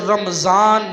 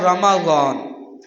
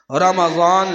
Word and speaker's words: رمضان: سب سے پہلے تو اس کا تلفظ دیکھ لیجئے، رمضان نہیں ہے، لفظ رمضان نہیں ہے، لفظ ہے رمضان، میم پر زبر ہے، رمضان یہ غلط ہے، رمضان لفظ ہے۔ اس کے معنی ہے